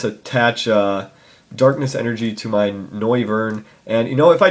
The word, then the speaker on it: Noivern: I always want to say Neovern, but that's not how you say it. It's Noivern because I'm a noob.